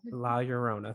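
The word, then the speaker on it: La Llorona: song oh i know the double l is pronounced like a y so here we go la rona la yorona thank you and i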